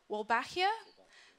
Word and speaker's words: Wolbachia: In terms of the flies, there's actually a really interesting bacteria called, and I think I'm going to pronounce this wrong, Wolbachia.